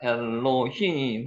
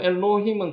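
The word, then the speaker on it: אֱלֹהִים: 중에 하나입니다 자 이제 우리가 엘로힘 하나님 봤습니다 엘로힘 한번 해보시기 바랍니다 L 여기 세 개 있으면은에 발음이라 그랬죠 여기 아 발음 나고요 L 요게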